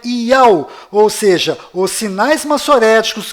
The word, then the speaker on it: YAUH: vídeo eu provei que não é Yahô e nem Yahu, na verdade é Iau, ou seja, os sinais